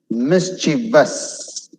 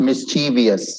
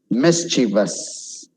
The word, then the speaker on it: mischievous: Mischievous, not mischievous, wrong. Mischievous. Niche, you should stretch that I.